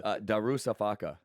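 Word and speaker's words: Darüşşafaka: Darusafaka.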